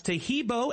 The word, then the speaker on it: Tahibo: Tahibo is spelled T like Tom, AHEEB like boy. Oh, that's Tahibo, and then continue with the word tea, and then the word club.